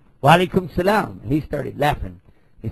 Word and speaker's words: salam: they're pronounced different because in the Hebrew dialect, they pronounce some of the sounds like sh, like that. So that's where you get the difference between shalom and salam.